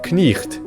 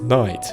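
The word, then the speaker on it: knight: For example, the word on the screen used to be pronounced knicht, but is now pronounced night. The K has become silent, and the GH, it's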